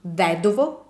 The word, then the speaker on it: vedovo: So the stress doesn't follow on the second to last vowel, but follows on the third to last vowel, which is the I.